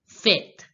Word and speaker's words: fête: The pronunciation of this word party is fête, Faith, faith.